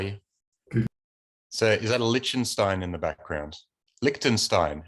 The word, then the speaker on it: Liechtenstein: ben how are you so is that a lichenstein in the background liechtenstein how do you how do we pronounce that liechtenstein yeah it is i is it a mural